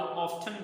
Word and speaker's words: often: सो हाउ ऑफन भी पढ़ सकते हैं और हाउ ऑफ्टन भी पढ़ सकते हैं।